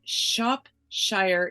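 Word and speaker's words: Shropshire: all laugh together and Shop Shire England I'm told to say it like Worcestershire and she lives with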